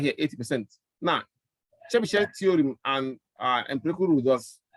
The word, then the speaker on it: Chebyshev: Yeah, Chebyshev, yes.